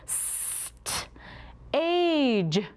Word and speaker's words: stage: Stage is spelled S-T-A-G-E. Remember that A, consonant, silent E?